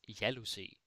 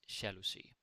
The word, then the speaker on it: jalousie: And then if you want to say the noun, that is jalousie, jealousy. Again, funny pronunciation, jalousie. It becomes like sha, like the J. It would make sense to think it's jalousie, but it's not. It's jalousie.